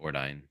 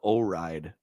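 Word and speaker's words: Ordyne: I could never pronounce this one. Yeah, that's how I would say it. Ordine. Ordine. Okay. I always called it O-Ride because I can't.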